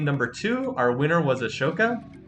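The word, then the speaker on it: Asoka: two our winner was aoka who I'm trying to pronounce more accurately as not as Ahsoka I will probably slip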